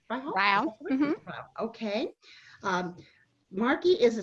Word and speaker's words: Ryhal: I want to introduce Marki Lemons, is it pronounced Ryhal, right? Ryhal.